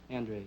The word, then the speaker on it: Andres: the way you pronounce it? Andres, yes.